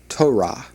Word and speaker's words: Torah: The pronunciation of that is Torah.